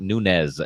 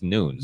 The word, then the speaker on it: Nunes: they pronounce them wrong Nunes is not Nunes it's Nunes NES but everybody on TV